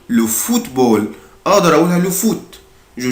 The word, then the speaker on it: football: الدبل او هنا بنطقها او. فوت. فوت. le football.